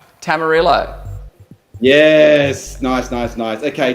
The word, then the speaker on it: tamarillo: Rhymes with armadillo. Tamarillo.